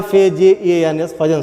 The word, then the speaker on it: Fajans: गया जिसका नाम है फजन रूल, फजन रूल्स, कहीं कहीं कोई प्रोनाउंसिएशन में कहीं फजान भी कहता है, लेकिन फजन रूल्स है, या FAJANS फजन रूल।